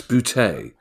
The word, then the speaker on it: Boutet: Our next question, Kieran, comes from Max Boutet. And I know it's pronounced Max Boutet because Max very kindly provided a pronunciation for me, which is fantastic.